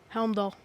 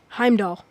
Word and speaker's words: Heimdall: incorrect guard of the rainbow bridge by frost helmdoll say that again heimdall correct i said it wrong shield maidens such